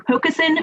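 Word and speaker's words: pocosin: think were wetlands were pokesin finn and meringue with pokasen being the top one four people did not think it was a wetland thanks thanks gala you actually did pronounce it perfectly pokes in uh is is uh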